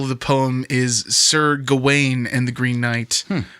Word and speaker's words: Gawain: And the original title of the poem is Sir Gawain and the Green Knight, which is the way that I had always heard it pronounced. In this movie, they call him Garwin.